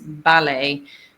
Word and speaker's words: ballet: Another word like this with that ends with et, but that we wouldn't pronounce the et for is ballet. Ballet is written like ballet, but we never say ballet. We say ballet.